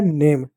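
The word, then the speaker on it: name: जैसे एन एम ई एन को क्या न पढ़ेंगे। ए को क्या ए की मात्रा पढ़ एम को क्या? म पढ़ेंगे। ये साइलेंट हो गया। हो गया नेम।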